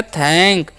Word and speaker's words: thank: Next बढ़ते हैं, क्या लिखा हुआ है THANK, तो TH का उच्चारण करना है थ, ए का उच्चारण करना है ए, और एन का अनुस्वार, के से का, तो हो गया थैंक।